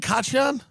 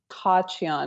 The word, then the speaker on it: Khachiyan: Is it Khachiyan? Yeah. It's technically Khachiyan because it's an Armenian name. You don't say the K, but that sounds like you're like choking on a pubic hair, you know?